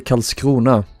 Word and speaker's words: Karlskrona: But this is the Karlskrona, as it's pronounced in Swedish.